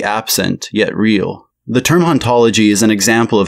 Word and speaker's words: hauntologie: this is not all in the original French the age in haunt is silent and therefore both ontology and ontology are in fact pronounced the same the word itself functions